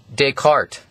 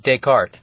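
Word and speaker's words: Descartes: invented this cordinate system his name was Renee deart that's how you pronounce that deart a french guy and this was around uh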